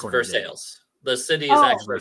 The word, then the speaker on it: Versailles: apparently has a town called versailes but it's pronounced V sales it's versales the city is actually called versales Kentucky yes if you call it Versailles they will they will chew